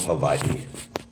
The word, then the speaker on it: Hawaii: beautiful spiritual place called Havi you want to pronounce it correctly it's Hawaii not Hawaiian it's Hawaii make believe the W is a v Tau you your first